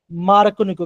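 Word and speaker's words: Markovnikov: Okay, तो बच्चों यहाँ पे एक आपका फैक्टर आता है जिसे हम बोलते हैं मार्कोनिको। क्या बोलते हैं, हम इसे बोलते हैं मार्क को निको।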